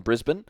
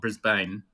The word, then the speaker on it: Brisbane: you're definitely legit because he said Brisbane not Brisbane yeah exactly exactly and and